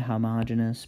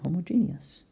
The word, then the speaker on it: homogeneous: homogeneous Homo Jean II it's I believe properly said homogeneous but I and most people can spell it better if they sound it out and say homogeneous up to you so homogeneous mixtures yes